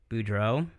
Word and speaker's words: Boudreau: So the guest tonight is Danielle Dunlap, formerly Danielle Boudreau.